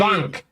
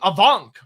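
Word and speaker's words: Afanc: Avank. Thanks. Yeah, apparently it's more like a V. Okay. Avank sounds good. Well, the VF shift makes sense.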